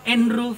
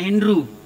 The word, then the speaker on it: Andrew: Karena Andrew itu biasanya karena tulisannya itu pakai Inggris, jadi bacanya Andrew. Tapi waktu saya sekolah SD di Jawa Barat, orang Sunda nggak bisa baca Andrew, jadi bacanya Andreo. Tapi kalau Bapak Ibu di jemaat GPB Maranatha ketemu saya, bisa memanggil saya pendeta Andre, bisa, pendeta juga bisa. Begitu.